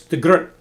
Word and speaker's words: de Groot: I was told it's de Groot. But anyway, I'll mispronounce it de Groot for the second.